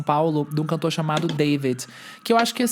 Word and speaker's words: D4VD: Eu vou só conferir aqui o nome do novo álbum dele, mas assim, David, o nome dele escreve diferente, tá? É David, é D4VD.